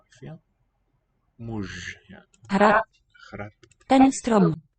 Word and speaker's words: muž: Muž. So it's written ž, but it sounds like it's going to devoice in word final position to a mush sound.